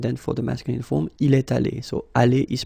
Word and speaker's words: est allé: You've got this little liaison between the two. Il est allé.